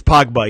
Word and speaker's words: Pogba: I mean, yeah, how do you pronounce it? Is it Pogba? It's Pogba, yeah.